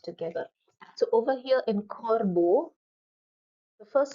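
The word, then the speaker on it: corbeau: they pronounce together so b e a u is pronounced as Bo e a u is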